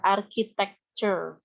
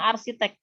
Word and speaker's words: architecture: Jadi ini dibacanya ya, architecture. Gimana baca lagi? Architecture. Yes. Nggak boleh bilang arsitek.